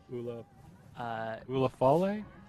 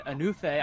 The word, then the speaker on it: Anufe: Ula Fale? No, I think it's Noel and Anufe. I'm gonna get yes, Anufe. Good.